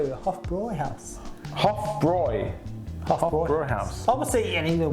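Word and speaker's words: Hofbräu: third i'll tell you the huff boy house hoff broy brewer house obviously in even we were called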